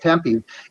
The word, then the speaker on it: Tempe: cars until someone dies right yes it is pronounced Tempe and look how quickly that Governor backed off